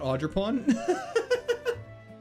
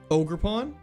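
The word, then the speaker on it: Ogerpon: Oh, I've been saying it wrong. Not Audreon. Iron leaves. No. So many weaknesses. Way too many weaknesses. Ogre pawn.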